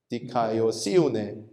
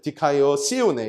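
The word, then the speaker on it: δικαιοσύνη: 원어민 발음 한번 들어보겠습니다 카네 디카이오 시네 이렇게 해서 카에다가 이렇게 액센트가 붙어요 디카이오 시네 이렇게 되는데요이 디카이오 네라는이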